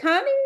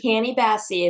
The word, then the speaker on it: Canny Bassey: Is it Connie, or am I pronouncing that right? Yeah, Yes, it's Canny Bassey.